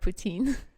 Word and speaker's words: Putin: Putin, wait. Vladimir Putin. Putin? Well, in French, we would say Poutine with his last name, even though it's spelled differently.